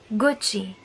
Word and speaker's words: Gucci: pronounce this word but not everyone knows the reason why we pronounce it this way the reason is that if letter C is followed by vowels a oh you then it will have a sound of K for example Connie which